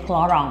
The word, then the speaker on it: Clarins: Bacanya Clarong, tapi ya lupa Clarins.